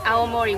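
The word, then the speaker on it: 青森: blue and this character means Forest which it's pronounced aomori which is my hometown means bread so our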